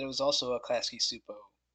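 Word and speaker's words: Csupo: sat there and listened, because remember, I like again phonetically it sounded like Supo, like soup bowl, but without the WL.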